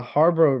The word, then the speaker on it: Harbaugh: Oh Yeah, yeah, the Harbor.